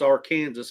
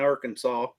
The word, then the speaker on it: Arkansas: I'm sorry, it's Arkansas. It ain't Arkansas. Just because y'all can't pronounce Arkansas.